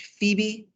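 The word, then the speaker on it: Pheoby: friend janie's best friend is named phoebe and then it's spelled p h e o b y bb p h e o b y looks like phobia um and janie's going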